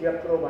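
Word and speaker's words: Jatropha: So-called Jatroba or Yatroba. This real pronunciation is Yatroba.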